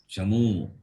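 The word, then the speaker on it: चमू: If you change the pronunciation, the meaning will change. Chamu is army, not Jammu.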